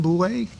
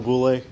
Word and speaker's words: Boulay: Okay, next we have Boulay. Hopefully I said it right. You got it right. I did. That's impressive. All right. Good evening. Evening. My name's Boulay.